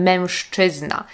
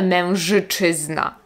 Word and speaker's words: mężczyzna: Podobnie jest na przykład ze słowem mężczyzna. Nie mówimy mężyczyzna. Mimo że jest to głoska ży, czyli głoska powinna być dźwięczna, ży, to czy, które jest po nim, wpływa na to ży tak, że słyszymy to jak szy. Mężczyzna, mężczyzna, mężczyzna.